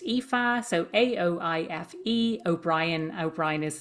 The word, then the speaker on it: Aoife: But my name is spelled Aoife, pronounced Aoife.